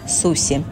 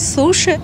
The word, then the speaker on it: суси: предлагали конечно же суси все мы привыкли произносите и слышать суши но русские и ponies ты очень настаивают на произношению суси сама же я слышу нечто среднее между си еще больше похожая на быстрый звук щ этот набор стоит 7